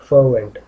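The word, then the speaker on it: fervent: आर यहाँ पे क्या होता है हमारा, साइलेंट होता है, एडजेक्टिव है और आर हमारा साइलेंट होता है, तो इसको क्या प्रोनाउंस करते हैं, फर्वेंट।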